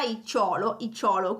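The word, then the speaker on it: -icciolo: Abbiamo poi anche il suffisso icciolo, per esempio festa, in realtà icciolo come appunto l'accento sulla O, quindi festa, festicciola, e porto, porticciolo, ok?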